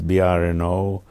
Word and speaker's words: Brno: of moravia of czechoslovakia in german it's called bryn b-r-u-double n in check it's brno on the 9th of october 1928.